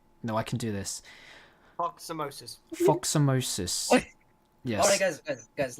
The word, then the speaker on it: Foxosomos: Foxosomos.